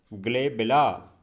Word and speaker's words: glabella: इसे कहा जाता है ग्लेबेला। इसकी स्पेलिंग आप देख रहे हैं, GLABELLA, ग्लेबेला।